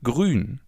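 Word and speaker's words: grün: Grun. As you already know, the oo with the two dots on top is pronounced oo as in grun.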